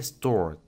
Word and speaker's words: stored: Como podemos ver, termina con una vibración en nuestra garganta y termina con un sonido R. Entonces, su pronunciación en pasado, si le agregamos ed al final, sería stored.